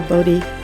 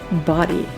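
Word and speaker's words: Bodie: time to find the bod Lighthouse and yes I said that wrong they pronounce it body the current Lighthouse completed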